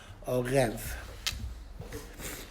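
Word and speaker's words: ערב: But the woman would have the right to ask for an arev on the ksuba. How do you spell it? Arev is ayin, resh, base, or vase. Orev.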